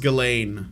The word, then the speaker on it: Ghislaine: for money um so i think it's pronounced galen i don't think the s i think the s is silent but i might be wrong i i remember looking